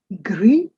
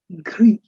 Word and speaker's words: gris: noir Gray would be gris. The last s is not pronounced for this format, of course. There are conditions where you do pronounce, we'll come to that later. At the moment, this is gris.